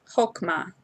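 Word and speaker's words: חכמה: You're not pronouncing the hey on the end, so it's not hokmah.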